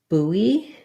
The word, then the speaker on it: buoy: one is an oi, like boy. So you might remember it by thinking about like a new buoy, and the boy was buoyant. Sometimes having a little bit of a mnemonic like that or something to pair it with helps your brain remember, because when you see those two written words, it's hard to know. It's hard to translate that into these different sounds between buoy and buoyant.